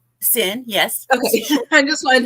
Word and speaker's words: Cyn: sin to the show hello hello am I pronouncing that correct sin yes okay I just wanted to make sure